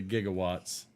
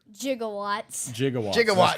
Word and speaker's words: gigawatts: do they call them jigawatts correct they they mispronounced it they did not know oh they said it wrong in the movie yeah I never noticed